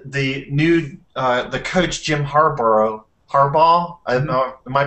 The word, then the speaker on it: Harbaugh: football team and the new the coach Jim Harbaugh. Am I pronouncing that correctly? Harbaugh. Yeah. Yeah, Harbaugh.